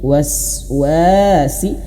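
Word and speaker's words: الوسواس: Tapi waswasi. Kenapa panjang dua harakat? Uai. Karena di sini ada alif, ada alif, ada tanda panjang ya. Ada tanda panjang mad dua harakat.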